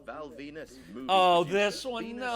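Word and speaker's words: Venis: Number 9, Val Venus, movie Oh, producer. this one, Venus no. rhymes with penis.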